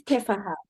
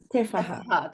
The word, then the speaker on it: Teffaha: It's Teffaha. Teffaha, that's right.